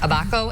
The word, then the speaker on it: Abaco: I'm not sure how to pronounce Abaco in Grand Bahama.